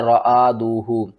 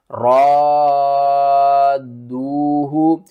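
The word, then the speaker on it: رَادُّوهُ: غلطی کر جاتے ہیں، وہ پڑھتے ہیں رآدوہ، وہ الف کو الگ پڑھتے ہیں، را کو الگ پڑھتے ہیں اور دال اور واو کو الگ پڑھتے ہیں۔ صحیح پڑھنے کا طریقہ کیا ہے؟ ہجے کر کے سمجھاتا ہوں۔ حمزہ نون زیر ان، نون الف زبر نا، ان، را الف دال مد زبر را، دال واو پیش دو، ہا پیش ہو، رادوہ۔ اس مد کا نام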